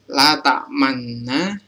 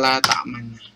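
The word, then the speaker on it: لا تأمنا: Oke, selanjutnya bentuk asal pada kata la ta'manna. Jadi teman-teman harus tahu kata asalnya la ta'manna adalah la ta'manuna bentuknya. Jadi membacanya itu kita membaca seperti kata la ta'manuna.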